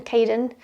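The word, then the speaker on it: Kaden: The next one is Caden, so K-A-D-E-N, Caden. I guess you could spell it K-A-Y, something like that, Caden.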